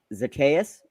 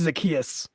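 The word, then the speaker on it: Zaccheaus: Olamide Zacchaeus. Did I butcher it really bad? No, I think it's just Zacchaeus.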